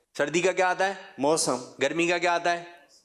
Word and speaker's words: موسم: صحیح جو تلفظ ہے وہ ہے موسم.